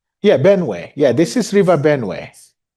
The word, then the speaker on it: Benue: Can you show where along that river, that Benway? This is the. Is that, did I say it right? Yeah, Benway.